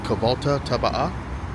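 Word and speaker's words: Kahvaltı tabağı: So, this breakfast is called Kabalta Taba. The G is silent.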